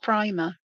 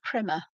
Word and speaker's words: primer: I think this is one that's found in the primer, the Zentangle primer, or as the Americans say, primer.